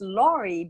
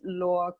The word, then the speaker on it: Laure: And yes, it's oftentimes pronounced Laurie because the E at the end, but it's French. My first name is French, and it's the final E in French is always silent. So we pronounce it Laure.